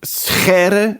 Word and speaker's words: Scheire: It's the typical g sound in Dutch. Winston Churchill used to say, Dutch is not a language, it's a disease of the throat. And so Scheire is how it's pronounced.